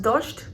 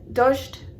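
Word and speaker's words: дождь: So rain, as I was saying, is pronounced dosht. Kind of sounds like Dodge, like the car for me.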